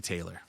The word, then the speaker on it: Talore: what happened to Brandy Taylor now her last name is spelled Taylor is Taylor but it's spelled it looks like it's spelled Tor but it's Taylor but I'm I'm going